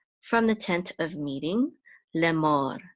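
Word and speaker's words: לֵאמֹר: which is mo, and the resh is part of that syllable, so it's mor, lemor.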